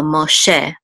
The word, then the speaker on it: Moshe: And then this is a sigol, and this hey is silent. Sigol says e, so Moshe.